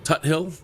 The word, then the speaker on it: Tuthill: Tuthill? Tuthill, like King Tut.